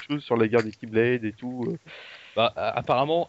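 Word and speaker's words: χ-blade: Oui, parce que ça se dit pas X-Blade, ça se dit Keyblade, mais ça s'écrit K.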